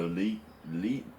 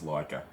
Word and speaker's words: Leica: an article on the lee well it's leica actually pronounced properly like a virgin german giant offers